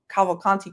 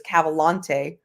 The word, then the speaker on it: Cavalcanti: He was already on Twitter, but he started up his YouTube channel to do the Danilo Cavalcanti case. And he repeatedly mispronounced Cavalcanti as Cavalante.